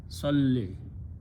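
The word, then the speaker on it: صلّ: So two letters with the jazm or sukoon cannot be pronounced, so we throw away this last letter waw. So what is left? Salli.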